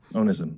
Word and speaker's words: onism: of your words which I believe is pronounced onism is am I pronouncing it correctly o n i yeah that's right onism yeah so this has nothing to do with